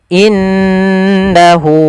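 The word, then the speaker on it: إنه: Cara membacanya jangan langsung innahu, tapi ditahan dulu gunnahnya, dimasukkan ke rongga hidung kita.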